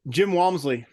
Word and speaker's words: Jim Walmsley: And so the first subject that I want to discuss with you is Jim Walmsley. I can't never say his name right. Can you say his name for me? Jim Walmsley.